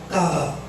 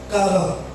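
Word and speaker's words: קרא: On appelle ça Kara. Kara. Ça s'écrit Q-A-R-A.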